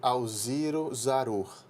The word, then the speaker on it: Alziro Zarur: Deus né é fundada lá em 1950 pelo Alziro Zarur tô correto na pronúncia tá correto isso foi quem foi o